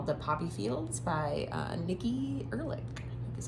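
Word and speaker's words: Erlick: The Poppy Fields by Nikki Erlich.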